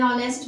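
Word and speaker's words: honest: आर एन आर एन ऑनेस्ट मैन an rebel man right जैसे जानते ना ये तो आप जानते होंगे ऑनेस्ट य पर एच आपका साइलेंट होता है आर यहां पर आपका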